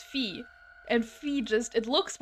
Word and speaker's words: phi: like fly most people know phi as phi to rhyme with fly assets pronounced in phi beta kappa kappa and dan brown's vesseling book the da vinci code however phi is said to be pronounced pronounced fee like fee in english you've heard the way